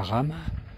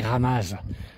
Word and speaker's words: Ramaz: Le le village de la rame, ça s'écrit Ramaz. Mais en ça voyant, on prononce pas les Z, pas toujours. Et là, c'est la rama.